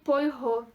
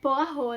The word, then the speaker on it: Poirot: aqui no YouTube e eu falei Hercule Poirot. E na verdade é Poirot, né? Então me desculpem. Eu não sabia francês e agora eu continuo não sabendo francês, mas eu aprendi essa pronúncia.